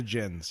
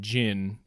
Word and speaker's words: Djinn: Let's go to djinns.